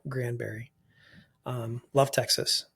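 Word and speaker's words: Granbury: outside of Fort Worth little town called Grandberry um it's spelled Grandbury but I've never heard it called that before okay Grandberry um love Texas it's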